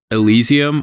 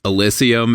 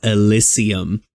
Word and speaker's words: Elysium: So this game, it takes place in a world called Elysium, or I guess Elysium if you want to pronounce it wrong like the people in the game do, which is sort of